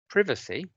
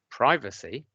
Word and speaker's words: privacy: as I do, or do you say privacy, as my daughters do? Now, my daughters reflect the American pronunciation, and that's the new kid on the block. And so if you're thinking to yourself, oh, I say privacy, you're part of the Americanization process.